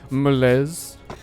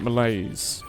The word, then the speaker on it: malaise: Malays cuz last time I was calling it Malaise and the man in chat said I'm not using the correct French pronunciation.